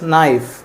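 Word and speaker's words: knife: चाकू इज नाइफ नाइफ इसमें के साइलेंट होता है friends that is नाइफ Kainchi Kainchi again जिसमें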